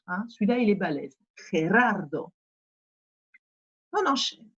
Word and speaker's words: Gerardo: Alors, Gerardo, celui-là, quand vous arrivez à bien le prononcer, c'est que vous maîtriserez la prononciation, puisqu'on a la jota et qu'on a deux R roulés derrière.